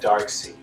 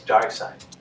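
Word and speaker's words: Darkseid: revolving around dark side i always pronounce that dark seed but in any case dark side i believe it is but the thing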